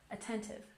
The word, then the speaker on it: attentive: And attentive. Stress on the second syllable.